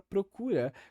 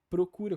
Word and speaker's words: procura: o abaixamento da vogal o invés de falar procura como eu diria por exemplo seria procura e há diversos contextos